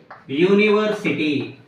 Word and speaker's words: university: For example, university. University. Here the starting letter is U. The starting letter is U, vowel letter, but it gives the pronunciation of ya.